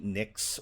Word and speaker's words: Nyx: go to that um almost brighter sound like NYX or hypnos um but whenever I see um uh uh an Upsilon like I tend to go to the Greek so that's why I say nooks and hupnos um P was an